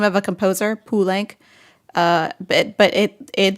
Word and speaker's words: Poulenc: name of a composer, Poulenc. But it the way that it's spelled phonetically in French should be Poulenc, but the family always said Poulenc, and that is the pronunciation the proper family pronunciation.